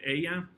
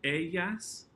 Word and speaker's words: ella: some of these because the double L is going to have the y sound rather than ella, ellos, ellas. And sometimes there's a little J sound that's ellos, ellas.